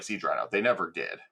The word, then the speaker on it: Siege Rhino: I don't know what the hell a Siege Rhino is.